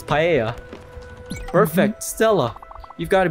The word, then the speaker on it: paella: in alpha i said i pronounced this paella but it's paella perfect stella you've got